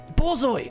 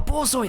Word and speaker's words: borzoi: Borzoi! A borzoi!